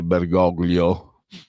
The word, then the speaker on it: Bergoglio: essendo italiano bensì argentino, la pronuncia è in lingua ispanica, castigliana, e quindi è Bergoglio, perché altrimenti avreste dovuto dire Platini invece di Platini, come tutti quanti abbiamo appellato Michel Leroy.